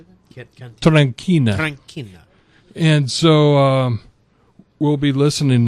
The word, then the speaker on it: Tranchina: Tranchina.